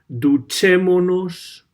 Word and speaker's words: duchémonos: Same thing happens in the other example underneath. Duchémonos por la mañana. El verbo es ducharse, to have a shower. Okay, so again, we get rid of the S in the ending. We attach the pronoun nos, and we put the accent on the third from last vowel.